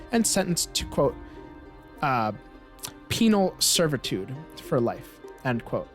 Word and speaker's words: penal: the life of me I had to try really hard there to pronounce uh uh penal and not penile which is something else uh mersky you are